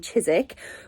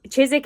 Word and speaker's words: Chiswick: So Chiswick is spelled like Chiswick, but it said Chiswick, and I always get laughed at. Suffolk is another one. It's like Suffolk, but then it's Suffolk.